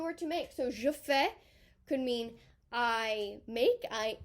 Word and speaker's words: fais: We have je fais, don't pronounce the S. Tu fais, il fait, elle fait, on fait.